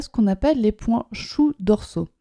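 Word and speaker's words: shu: Et sur le méridien vessie, au niveau du dos, il y a ce qu'on appelle les points choux dorsaux. Alors chou, ça s'écrit S-H-U.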